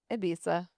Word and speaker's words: Ibiza: That's how It's Spanish. in Spain they pronounce their All Z's are. Z's and S's are they pronounce España. That sounds like a lisp.